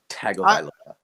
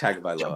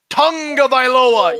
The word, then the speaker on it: Tagovailoa: But I do want to say to the announcers who say Tungavailoa, you're saying it wrong. Yeah, I don't know how to say it, but you're definitely saying it wrong. Where is the UNG in his name?